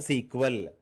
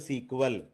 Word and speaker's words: SQL: be pronouncing like a sequel right sql means sql only there is no spelling like that you can say sql or it is also called as a sequel right so you have